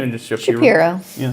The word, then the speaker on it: Shapero: Is it pronounced the same or just Shapiro? Shapiro.